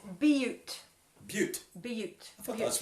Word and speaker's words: Butte: So there's been an update on how to pronounce crested, wherever it is in Colorado, that that Missy and Phil are from. It's Butte.